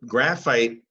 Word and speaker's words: graphite: Now, graphite has a silent E ending. That's going to make this I here a long I. So we have the sound ite at the end. So there's pretty much the word fight. Not this kind of fight, but that says fight, that syllable is fight.